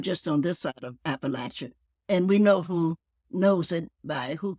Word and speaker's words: Appalachia: good right so so what is the proper pronunciation here it's Appalachia Appalachia appal and uh yeah I look at